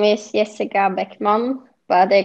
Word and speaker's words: Bäckman: directly from you okay my name is jessica beckmann but they call me back my name in